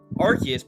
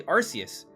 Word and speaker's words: Arceus: I remember when Legends Arceus came out, there was debate on how do you pronounce the name.